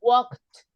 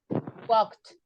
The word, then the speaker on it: walked: the first was better remember what we don't pronounce the L uh walk walk that is in present at is with t d or e d t correct so it's walked Walked wed don't pronounce don't